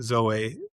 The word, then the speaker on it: Zoe: So that's, last name Zoe, Z, or as you Americans say, Z Yeah. O E, Zoe.